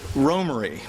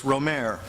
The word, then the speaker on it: Romare: As is clear from taped interviews, Bearden pronounced his own name Romare, though his friends just called him Romy. Oddly, today his name is most often heard as Romare, and even friends who knew him well have sometimes adopted this pronunciation, which is probably the one that I'll be using during the talk.